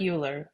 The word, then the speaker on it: Euler: It looks like Euler, but you pronounce it Euler.